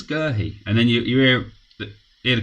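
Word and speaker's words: Guéhi: Long ball, but Gerhi goes back to the goalkeeper. If you've noticed, I'm saying Gerhi's name different. I was saying Guehi before. But I've heard more people saying Gerhi.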